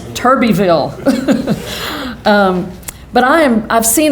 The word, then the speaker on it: Turbeville: little blacktop roads including Tuberville Tuberville turbotville I think the official the official pronunciation is Turbie Vil but I am I've